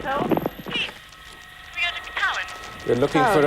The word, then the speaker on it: Tywyn: It's called Tywyn, T-Y-W-Y-N. Cowan. T-Y-W-Y-N. That's pronounced Cowan.